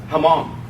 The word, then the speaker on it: Hmong: little bit about the Hmong." And I said, "Well, the H is silent."